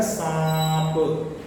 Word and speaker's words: سانپ: क्योंकि नुक्ता लिखते हैं, لیکن اس کو سانپ ایسا یا سانپ ایسا تلفظ نہیں کرتے، ہم اس کو کہتے ہیں سانپ۔ اسی طرح سانس، اسی طرح دانت، چاند، یہ سب الفاظ میں ہم نون کا تلفظ نہیں کرتے ہیں، نون کو گنگناتے ہیں۔ دوسرے واو کے